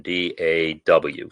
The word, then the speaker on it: DAW: or digital audio workstation d-a-w some people pronounce it daw some people find that's awkward and just say d-a-w whatever but uh ardor is